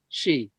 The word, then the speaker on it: Sidhe: And Sidhe is how you say it, Shee. Yeah. You don't pronounce the DHE.